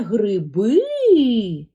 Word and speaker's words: гриби: складів теж два правильно давай визначимо тепер наголос у слові гриби пам'ятаєш як ми учили запитай перепитай наче ти не зрозумів це гриби і той склад який ти вимовиш з більшою силою і є наголошеним Послухай це гриби наголошений другий склад подивись от стоїть наголос на другому складі от стоїть наголос на